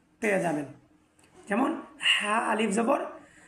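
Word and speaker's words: ح: ওয়াবারাকাতুহু আজকে আমরা এই ভিডিওর মাধ্যমে আলোচনা করব হা হরফ নিয়ে অর্থাৎ হাচ্ছে আরবি হরফের ছয় নম্বর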